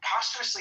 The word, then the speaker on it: posthumously: Posthumously is how you say it.